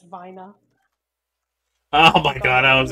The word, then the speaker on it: Wiener: wiener the Wier actually if we're gonna pronounce it the way Germans would it's Vina oh my God I